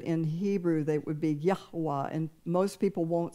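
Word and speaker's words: Yahweh: in English but in Hebrew that would be yahwa and most people won't say his name the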